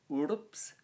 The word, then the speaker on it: urbs: city now city is urbs very hard word to pronounce correctly it's a short u but it's followed by an r and a b and an s which you know is kind of quite a lot of consonants to to get together while